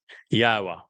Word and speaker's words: Yahweh: Al Benyim Yahweh, which is the proper pronunciation of the name of our Elohah, God, as directed by his Torah teaching regarding his Haya existence.